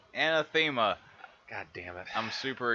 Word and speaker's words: Anathema: Welcome, ladies and gentlemen, to Mike and Chris game, and in this Mike and Chris demo, we are playing Anathema, not Anathema. Anathema.